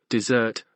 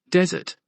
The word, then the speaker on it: dessert: is word stress khed got the word dessert the sweet Heavenly thing right but he said it with the emphasis in the wrong place and the word sounded like desert a dry perilous place this is just